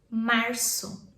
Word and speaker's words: março: March is março.